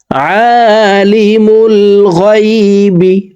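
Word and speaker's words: عالم الغيب: লা ইলাহা ইল্লাহু ইল্লাহু লা ইলাহা ইল্লাহু হুয়ল্লাহুল্লাজিলা লা ইলাহা ইল্লাহু আলিমুল গাইবি আইন হারফকে হালকের মধ্যখান থেকে উচ্চারণ করব আমরা অনেকে আইনের উচ্চারণ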